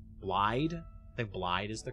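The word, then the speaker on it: Blaidd: She wanted us to join her retainer Blade, or Blod. Blide? I think Blide is the correct pronunciation.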